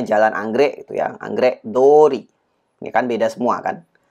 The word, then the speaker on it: 道: ya sebagai kata benda cara baca mici pada kanji ini itu adalah kunyominya sedangkan onyominya adalah do Ya paling tidak kunyomi yang